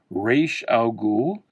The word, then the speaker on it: Ra's al Ghul: Here's a Ra's al Ghul or Raish al Ghul, however you want to pronounce it. I always just pronounced it a Ra's al Ghul.